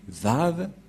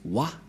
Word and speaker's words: Vah: Et ces termes se prononcent, selon eux, en W, A, H. C'est pourquoi les gens disent Wa. Mais en fait, ce n'est pas Wa, la vraie prononciation, mais Va pour les Juifs. Les Juifs le prononcent Va.